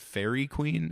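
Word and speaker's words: Faerie Queene: the Fer, is that fairy queen? How is that pronounced? I don't know what that is." Fairy Queen. Anyway, sorry. Fairy Queen. Sure. Yeah, sounds like Dairy Queen.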